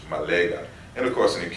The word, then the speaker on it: Ma'at: So if you want to say Ma'at in a more modern sense, this is how you pronounce it, like in the Bassa Cameroon language, Malega.